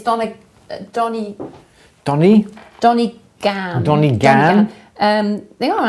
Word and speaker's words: Donegan: It's Donny Donny? Gan. Donny Gan. They are on Amazon, but you don't. Yeah. Donegan's Saletastic, eBay. Optivisor. Donegan.